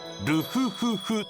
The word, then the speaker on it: RFFF: ロゴが RFFF と書いてルフフフと読むらしい。